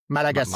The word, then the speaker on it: Malagasy: Malagasy, Malaga yeah, Malagasy.